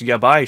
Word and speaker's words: Yabai: Is like the J pronounced as like a Y, so it's like the Japanese word for bad, yeah, bye? It's Yabai Shrine.